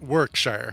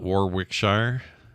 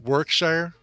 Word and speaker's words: Warwickshire: think it's just work workshire I don't think you pronounced that second W oh it's not Warwickshire I think it's and